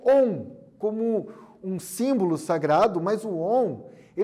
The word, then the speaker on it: Om: Este mantra é uma vocalização, então a pronúncia, né, do Om, pode-se dizer A1, mas é Om.